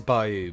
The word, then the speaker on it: bayou: say byou by ba what are you supposed to say ba it is Bayou but you probably they're